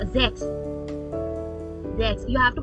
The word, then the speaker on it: sechs: So okay, German are now more H. Like in A, B, C, A, B, D. They pronounce H more, her sound. So same as in Sechs. Sechs, Acht. The both are similar.